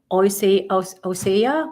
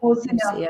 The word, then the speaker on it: Hosea: He was doing Osea. What is the right pronunciation in English, sister? Osea or Isaiah? Yeah, Hosea. Hosea. Hosea 6:6.